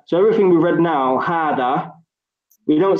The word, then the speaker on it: هذا: So everything we read now, hada, we don't say hida, we don't say huda. We've just learned now. When we see this word, every time we're going to say hada.